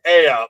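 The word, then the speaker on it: Aeaea: It's like, okay, so this is pronounced All right, yeah, we're just gonna go with Aya on this.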